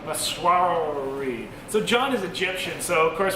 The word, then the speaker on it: Masrawy: John, how do I pronounce the name of this restaurant? Masrawy. Masrawy.